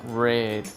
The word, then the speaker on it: read: En presente se escribe igual que en pasado, a diferencia de que en presente se pronuncia read y en pasado se pronuncia red como el color rojo.